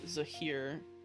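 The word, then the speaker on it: Zehir: constantly fighting these two and uh also uh zaheer which is z-e-h-i-r who is the god of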